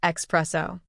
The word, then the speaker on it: espresso: There is no X in the word espresso. It is not espresso. It's a shot of coffee, not a former relationship. The correct pronunciation is espresso. The s is right there at the beginning.